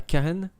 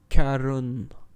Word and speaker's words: Charon: n'est pas la bonne le nom que nous avons entendu n'est pas Karen c'est Caron Charon comme Charon le nocher des morts ok tout s'explique qui